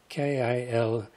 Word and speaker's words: Kilauea: not really sure how to pronounce this title. It's K-I-L-A-U-E-A, Hawaiian Patrol.